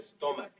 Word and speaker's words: stomach: Because the CH at the end of stomach is pronounced like a K.